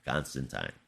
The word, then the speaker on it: Constantine: rites something he's done with it but yeah Constantine that's the right way to pronounce it oh uh zazo has completely disowned